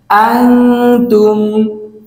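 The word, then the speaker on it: أَنتُمْ: আনতুম, আনতুম, আনতুম। এই শব্দের উচ্চারণ হচ্ছে আনতুম, আনতুম, আনতুম।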